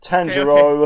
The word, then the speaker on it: Tanjiro: But yes, it's Tangero.